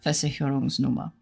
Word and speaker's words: Versicherungsnummer: So, like, if you have the word Versicherungsnummer, it's Versicherungsnummer with a V at the front.